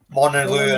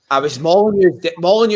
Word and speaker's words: Molineux: Molineux is the one that stands out because it's the way it's pronounced, because it's silent.